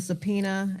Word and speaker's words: subpoena: Um, what is a subpoena?